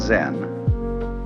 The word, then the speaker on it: Zen: So then, this word Zen is Japanese way of pronouncing the Chinese word Chan, which in turn is the Chinese way of pronouncing the Sanskrit word jhana.